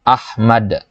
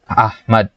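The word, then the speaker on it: أحمد: Contohnya kata Ahmad. Nah, ada bunyi a di situ. Bi idharil hamzati hina nutqi, dengan kita menjelaskan, menampakkan huruf hamzah ketika diucapkan Ahmad gitu ya.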